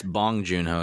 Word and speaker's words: Bong Joon-ho: everywhere in this document his name is it's bong joon-ho isn't it bong yoon ho and i said goonju now for some reason